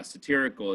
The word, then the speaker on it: satirical: go ahead Sacto great cool a teracle yeah satirical is how you say that um satirical means